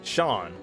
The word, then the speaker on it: Seam: do how about yourself the name seam pronounced Sean excuse the [ __